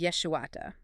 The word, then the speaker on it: yeshuata: The word in the text is yeshuata. It is an intensive form of the standard Hebrew word for salvation, which is yeshua. Okay, yeshuata instead of yeshua.